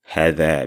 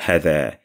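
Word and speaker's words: هذا: It's not hada, it's hada. Hada. Stress on the first letter there. Hada. Hada. It's as if you're ignoring the alif there.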